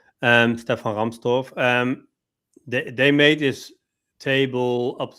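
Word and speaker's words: Stefan Rahmstorf: Let me pronounce it in German. Stefan Ramstorff.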